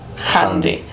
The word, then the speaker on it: Jandy: Your name's spelled Jandy, but it's pronounced Handy.